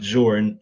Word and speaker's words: XOR: about here is the XOR ORS or it's usually pronounced Zorin signifies an exclusive or